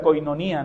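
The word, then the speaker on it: κοινωνία: Nuevo Testamento, que ustedes la conocen, que se pronuncia en griego la coinonía, ¿no?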